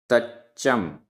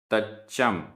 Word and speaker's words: तच्चम: जेण जेण, तच्चम तच्चम, आधा च पूरा च, तच्चम।